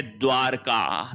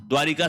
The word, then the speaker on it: द्वारका: फिर देखिए द्वारिका very very important द्वारिका नहीं होता है शुद्ध शब्द होता है द्वारका द्वारिका शब्द गलत है शब्द क्या होगा द्वारका शब्द होगा फिर देखिए घुटूना नहीं